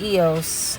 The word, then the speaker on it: EOS: anything at home um so EOS is actually pronounced EOS I pay $25 for the middle tier I